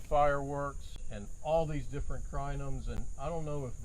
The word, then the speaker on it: Crinum: We talked about Gomphrena fireworks and all these different crinums.